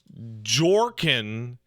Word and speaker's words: Jorkin: I see a lot of people screwing it up. It's Jorkin, Jorkin, my peanuts, Peanits.